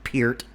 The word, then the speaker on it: Peart: if you know anything about Neil Peart, and yes, it's pronounced fucking Peart, comment section.